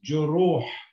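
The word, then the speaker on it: جروح: And then you've got ra with a dhamma, but you've got a waw afterwards that elongates, it says juru. And the last letter here is a ha. So we read this as juruh, juruh, juruh, which means wounds.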